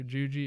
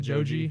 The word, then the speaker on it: Joji: You know, Filthy Frank or Juji, is how you say it? Joji, not Juji.